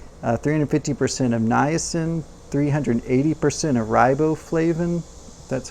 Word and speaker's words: riboflavin: Along with that, you get 190% of folate, 680% of B6, 350% of niacin, 380% of riboflavin. That's how you pronounce it.